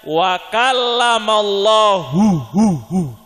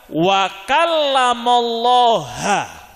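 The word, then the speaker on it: وَكَلَّمَ اللَّهُ: Mereka bacanya bagaimana? Wa kallamallaha. Bacanya ha. Kallamallah ha. Kalau Quran kita yang kita baca itu kallamallahu.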